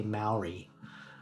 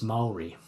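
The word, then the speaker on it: Māori: So many English speakers say Maori, but it's Maori. The A and the O. A-O combined. A-O. So Maori.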